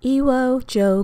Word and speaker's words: Iwo Jo: this soap is called Iwo Joe Garden Fragrance Oil Essential Oil Blend from the Chandler's Rose. That's spelled I-W-O-J-O.